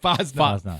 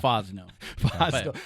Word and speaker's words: Fosnaugh: Fosnaugh. Fosnaugh. I was telling him that was good. That probably gets butchered all the time.